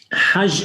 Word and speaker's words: Hajj: Hajj is written Het Gimal, right? But they pronounce the G as Je. And now, if you read it in Hebrew, is Hag, right?